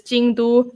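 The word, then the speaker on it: 京都: know like for example don jing is tokyo in japanese it's tokyo but in chinese the same characters right tongjing and and um kyoto the same kanji character in chinese is jingdu sounds nothing similar but like i get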